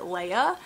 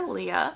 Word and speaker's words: Leah: main character Leah and I know a lot of people probably pronounce it Leia but because of her nickname Lee I am going to call her Leah we jump into her